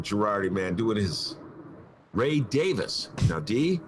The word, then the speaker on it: Davies: the drums michael girardi man doing his ray davis now dee it's not davies it's davis okay and i actually looked that